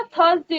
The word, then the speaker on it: Thursday: THURSDAY होगा, थर्स नहीं होता, थर्सडे होता है। तो प्रोनाउंसिएशन क्या होनी चाहिए इसकी?